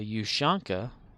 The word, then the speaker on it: ushanka: guess in russian though a ushanka is pronounced with the u sound and it's just a